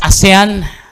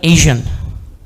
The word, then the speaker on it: ASEAN: it's percent which means by a 100 it's asan asan we can't stress stress this enough. It's always Asan or Aen, but it's never Asian.